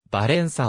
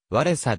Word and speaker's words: ヴァウェンサ: 旗手を務めた前述のようにば連鎖を言語の発音に忠実な形でカタカナ転写